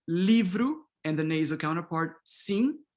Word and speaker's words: sim: And then we have E, livro, and the nasal counterpart, sim. Again, this final M, you don't pronounce it. It's just an orthographic convention. Just nasalize the E and you're good to go.